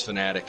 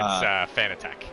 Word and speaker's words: Fanatec: Arrow says it's Fanatic and yells at me when I say it wrong. It's Fanatec.